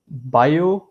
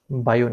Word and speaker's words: Biot: It's called the Biot number. Okay, the T is silent here. It's called the Biot number.